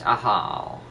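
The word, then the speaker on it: Ajaw: It's not pronounced a jaw, it's a how.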